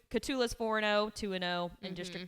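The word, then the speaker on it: Cotulla: um they've got how do you say that catula catula okay I figured so I just didn't want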